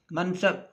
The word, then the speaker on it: منصب: وہ ساکن ہے، جستجو۔ تیسرا لفظ ہے منصب، منصب، میم جو ہے وہ متحرک زبر ہے، نون کے اوپر جو ہے وہ علامت سکون ہے اور بے جو ہے وہ سواد جو ہے وہ پھر متحرک ہے اور بے جو ہے اس کے اوپر بھی علامت سکون ہے، ساکن ہے۔ منصب، خلافت اور عنایت،